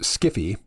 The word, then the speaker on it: sci-fi: and conundrums I think most sci-fi pronounced skiffy has very little interest